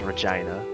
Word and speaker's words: Regina: what the capital of saskatch one is called Regina it sounds funny that's how you pronounce it humor of T Luna and I